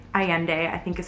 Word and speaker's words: Allende: I also finished A Long Petal of the Sea by Isabel Allende. Allende, I think is how you say it.